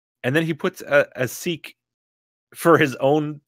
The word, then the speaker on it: sic: yeah that's what it's because it comes in a Latin adverb sick meaning thus so that will not pronounce the I as an a they pronounce it as an e sick see according to